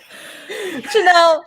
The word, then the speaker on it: Chanel: matt henning channel f i'm saying it right chanel and i'm not sh i'm not saying it right chanel god dang it chill chanel we we just want